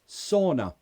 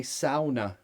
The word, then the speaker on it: sauna: how do you pronounce sauna yes in a few other languages you would say Sona right the hot room where you sweat and it's supposed to be healthy we say saw sauna sauna duck is saying how